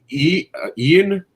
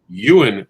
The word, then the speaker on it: Ewan: weekend including star wars ian you and yo thank you i always get his name wrong so the way you look at it it's like it looks like ian ewan mcgregor confirms that we're